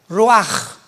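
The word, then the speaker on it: רוח: Pero la ch en el hebreo se pronuncia como j. Roaj.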